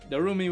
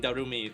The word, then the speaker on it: Darumi: and over again cuz she name pronounces her name like Darumi. So just repeat that. Repeat the first name Darumi like how she would over and over again.